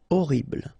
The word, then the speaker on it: horrible: Horrible. Okay, first letter is H, but then we don't pronounce H, so you don't pronounce it. And the first thing you hear is O. Horrible.